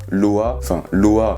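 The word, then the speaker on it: loha: Voilà, en gros tu dis loa, loa, L-O-A, mais ça s'écrit L-O-H-A, mais on prononce pas le H.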